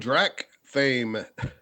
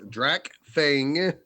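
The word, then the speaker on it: Drakfang: In the land of Drac fame, I did it again. Drac Fame? Okay, we're not doing it. We're not redoing this. Drac Fang, like a fang.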